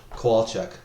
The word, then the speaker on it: Kowalchuk: So it's like if you had a koala bear and a woodchuck, Kowalchuk. I've been saying Kowalchuk the whole time, and I was like, I must be saying it wrong. Well, see, that's the thing. People always put an extra A in the middle, so they say Kowalchuk, but it's just Kowalchuk.